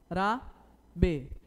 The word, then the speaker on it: árabe: Árabe, olha, árabe. Quando você pronuncia árabe, a sílaba que tem maior intensidade é a.